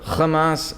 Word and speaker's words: Hamas: time the same way he obviously knows how to pronounce an H right he says theas Ministry of Health well which one is it shouldn't it be the Hamas Ministry of Health or